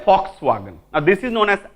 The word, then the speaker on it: Volkswagen: लिखा है वॉक्सवैगन but German we टाकू फ पढ़ंती फ लिखती भी पढ़ंती कौन फ कौन हम ताले फॉक्सवैगन now this is known